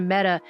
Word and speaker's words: Meta: facebook dead because apparently the word meta is pronounced like the feminine form of the hebrew word for dead and so that was